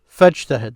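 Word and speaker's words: فاجتهد: Arabic, they would say fajtahid because they connected this fa then with this command ijtahid. So notice I said ijtahid. But because of it's a connected hamza, now you do not pronounce it.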